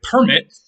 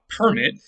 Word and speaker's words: permit: verb or a noun so if you permit something that's a verb but if you have a permit that's a noun and notice you just changed which syllable you are accenting it on so now we're talking